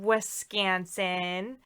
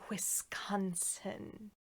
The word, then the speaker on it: Wisconsin: talk about it and yes i said wiscanson um because that's how you say it because that's how people from wisconsin say it they don't say wisconsin if somebody that lives